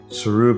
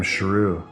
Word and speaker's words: Sheru: Siru became Sheru, which in Hindi means lion, the king of the jungle. He had been spelling and pronouncing it wrong his whole life.